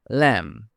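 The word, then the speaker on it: lamb: ল্যাম। ল্যাম মানে ভেড়ার বাচ্চা। এখানেও বি সাইলেন্ট।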